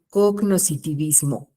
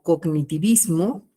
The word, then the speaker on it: cognoscitivismo: aquí que es el cognoscitivismo que también lo pronuncian como cognitivismo y es válido sí y en aprendizaje